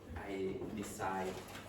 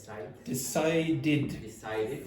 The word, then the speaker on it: decided: But the other days I decided Past simple. Sorry. I decided in. How'd you pronounce that word again? Decided. So it finishes in a d, so you have to pronounce the ed as id.